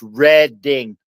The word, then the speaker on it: Reading: You're reading it. No, it's red. Ding railroad and it's Lebanon baloney.